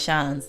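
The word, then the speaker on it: seans: don't have a chance the pronunciation of Sean's is the same as Sean's like chance but with a sh at the start chance chance is this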